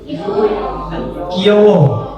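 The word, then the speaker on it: 귀여워: Bacanya Kiyowo atau Kiyowo? Kiyowo.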